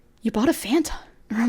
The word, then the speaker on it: Fanta: It's Fanta, not Fanta.